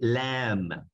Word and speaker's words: lamb: Esas, chicos, son algunas palabras en las cuales no pronunciamos la B. Otra más, cordero. Cordero. ¿Cómo se dice cordero? Se dice lamb.